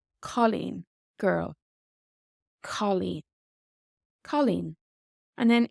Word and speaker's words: cailín: And then in girl, it has a similar O sound, this AW sound. Colleen. Colleen.